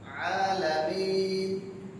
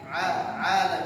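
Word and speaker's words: العالمين: বাকি রইছে কি আইন আলামিন এই আইন বলেন আলামিন আলামিন আলামিন আলামিন আইনের উচ্চারণ করতে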